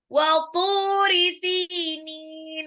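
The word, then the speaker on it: وَطُورِ سِينِينَ: Walturi sinin, walturi toknya 2 harokat, toknya ini adalah dia punya apa namanya bacanya lebih tebal dibandingkan baca tak karena lidahnya keangkat.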